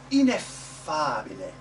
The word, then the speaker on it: ineffabile: And use it on the accented syllable. The old word for that is the good syllable. Ineffabile. Ineffabile. Very good. Actually, for all of you from your native languages, you're probably used to the idea that when there's a double consonant, like this double F, F-fa, you actually make more of it.